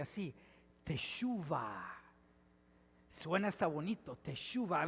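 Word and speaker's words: תשובה: Ahora, en hebreo, el lenguaje que hablaba Jesús, la palabra arrepentimiento se pronuncia así, tesuva.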